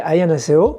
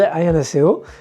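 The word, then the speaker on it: 안녕하세요: Alors en coréen c'est Annyeonghaseyo. Vous voyez que voilà, la façon dont je le prononce c'est pas forcément comment vous l'aurez interprété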